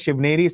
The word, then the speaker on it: Shivneri: Yes, Abhishek, the birthplace was Shivneri Fort. See, some pronounce it as Shivneri, some pronounce it as Shivner.